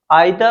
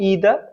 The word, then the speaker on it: either: की बात करूं तो ब्रिटिश इंग्लिश में इसका जो प्रोनाउंसिएशन है वो आइदर और नाइदर होगा। जबकि अमेरिकन इंग्लिश की बात करें तो इसका जो प्रोनाउंसिएशन है वो ईदर और नीदर होता है।